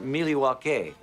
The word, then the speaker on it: Milwaukee: Cooper's cameo in Wayne's World in fact isn't Milwaukee an Indian name yes Pete it is actually it's pronounced miliwake which is Algonquin for the good land and